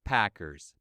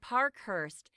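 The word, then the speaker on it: Parkhurst: here it is Chase Packers baseball player that's him but actually the reporter got his surname wrong it should be Park Hurst that's p a k huur St okay I'll make a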